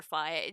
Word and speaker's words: Phi: I mean, it could be either way because it's supposed to be like the Phi from sci-fi because that's her whole aesthetic is very futuristic.